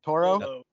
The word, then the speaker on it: toro: Toro.